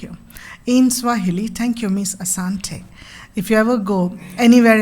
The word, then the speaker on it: Asante: you B A Kenyon Airlines you would say Asante Asante so first I used to think maybe they are just not able to pronounce Om Shanti maybe Shanti it is but